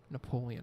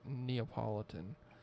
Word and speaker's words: Neapolitan: how many people used to call it Napoleon ice cream cuz I got my hand up right now I was I was that guy could not pronounce or refused to just open my eyes and properly read the word Neapolitan ice cream I wonder what